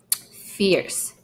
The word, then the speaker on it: fierce: Fierce. Okay, again, this is not a long E.